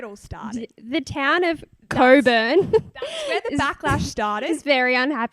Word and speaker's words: Cockburn: apology yeah um so apparently it's not pronounced the way it's spelled no it's not which